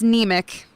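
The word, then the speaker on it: Niemiec: It's neic. Just that simple. Yep. It's n i e m i e c.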